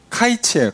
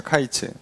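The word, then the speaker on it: קַיִץ: 과일에 대한 그 단어가 히브리어로 이 표현이 이제 카이츠예요, 카이츠. 자, 이게 이제 카이츠인데 여기 끝이라고 나와요. 끝. 뒤에 보면 끝이라고 나오는데 끝이 캐츠입니다. 카이츠랑 캐츠랑. 이게 카이츠는 여름과일이고 캐츠는 끝이에요. 그러니까 의미적으로도 맞고 발음도 비슷해요.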